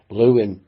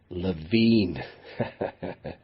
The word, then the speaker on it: Lewin: And a few years after moving to America, Lewin began asking people to pronounce his name as Lewin rather than Levine, because the misspelling, it